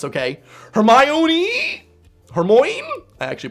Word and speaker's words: Hermione: As if I am the go-to guy on how to pronounce names, okay? Hermione?